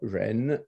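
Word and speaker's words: 仁: In the modern pronunciation, both are Ren, and they are perhaps also etymologically connected.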